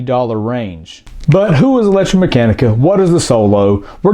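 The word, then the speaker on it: ElectraMeccanica: i am talking about is the ev company electromechanica and yes that is how you say it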